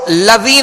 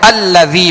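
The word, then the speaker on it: الذي: تشدید ہے، یہ سکون بشکل تشدید ہے، تو اب اس کو لذی نہیں پڑھیں گے، لذی نہیں پڑھیں گے، ہجے بھی کریں گے تب بھی حمزہ کے ساتھ ملائیں گے، اور رواں میں پڑھیں گے تب بھی حمزہ کے ساتھ ملا کر پڑھیں گے، تو الذی پڑھیں گے، اگرچہ حمزہ پر کوئی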